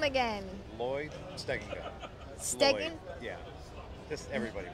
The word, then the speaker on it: Stegenga: Lloyd Stegenga. Stegen? Lloyd. Yeah. Just everybody butchers it. Don't feel bad. How do you spell it?